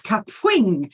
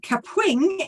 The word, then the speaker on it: Kapwing: next one is kapwing now I love the way you've got to pronounce this it has a certain pronunciation it's kapwing so you've got to say it with a bit of attitude and kapwing is designed as a